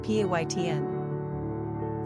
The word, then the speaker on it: Payten: Pronunciation, Payten.